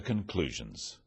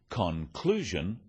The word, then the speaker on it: conclusion: In words, one syllable is stressed. The wrong stress makes it hard to understand. So, conclusion, not conclusion.